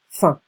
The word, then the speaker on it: faim: Okay, faim. Don't pronounce the M.